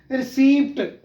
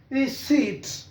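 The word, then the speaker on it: receipt: Next है रिसीप्ट, गलत पढ़ते हैं क्योंकि इसमें ये पी की आवाज साइलेंट है। Letter P will be silent in this word, P नहीं बोला जाएगा, रिसीट, रिसीट।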